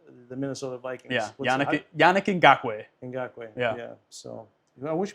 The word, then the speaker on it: Ngakoue: I can't pronounce his name, but he went to the Minnesota Vikings. Yeah, Yannick Ngakoue.